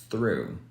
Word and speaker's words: through: one here this one not only do I want you to eliminate the GH sound but I also want you to eliminate the o sound so you only have this left and that's exactly how we say it through this is the same